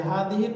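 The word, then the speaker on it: هذه: লিখা দেখবেন এই যে হাদিহির পরে একটা ইয়া লিখা থাকবে মানে ওইটাকে আমরা সামনে পড়বো তার একটা রুলস আছে হ্যাঁ তো হাদিহি একটু টেনে উচ্চারণ হাদিহি হাদিহি বা হাদিহিতু হাদিহিতু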